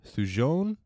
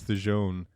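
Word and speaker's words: thujone: alcohol and trace amounts of now I might pronounce this wrong sujon t h u j o n e modern research though shows that you would die of alcohol poisoning before consuming enough theon to hallucinate.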